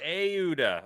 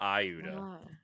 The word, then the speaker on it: Auda: Not ioduda. Auda. I missed the a completely. Yeah, I thought I had an I. So, it's Well, how was it pronounced? It was auda. Auda. Auda. Auda. Uh, like a long and then a long u and then the dot.